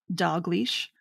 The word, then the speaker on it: Dalglish: a noose maker right it's not spelled like dog leash it's dalglish now that's dog leash but yeah it sounds like dog leash who was the